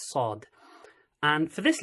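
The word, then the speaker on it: ص: actual letter is called Saad okay so it's a heavy s so as if you sort of blow up your mouth so just blow up your cheeks a little bit and then pronounce it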